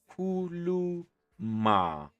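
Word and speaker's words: khuluma: And how you say it, kuluma, kuluma.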